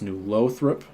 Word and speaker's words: New Lothrop: Boy's Mom with a $5 super chat saying New Lothrop is pronounced New Lothrop. The O is long.